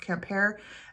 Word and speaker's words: Quimper: a camper um written q-u-i-m-p-e-r i think so it looks like quimper but it's pronounced camp hair um that is a